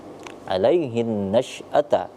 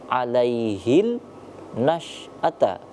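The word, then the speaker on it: عليه النشأة: baru nampak Alaihi ya alaihin nasata langsung melebur ke huruf nun tidak dibaca alaihil nasata ah bukan karena ini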